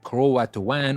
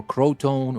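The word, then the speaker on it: Croatoan: survived the word Catan maybe it is pronounced in a different way but it is c r o a t o a n Catan or Crow tone or something like that it was carved into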